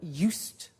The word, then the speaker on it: used: eat Italian cake at Christmas now this verb used to well it's written u s II D but the pronunciation is used and we'll see that on